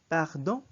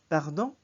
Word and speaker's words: pardon: Pardon. Pardon. Pardon. Notice that the sound at the end in the N is almost like the NG of the Filipino, although it's a bit shorter.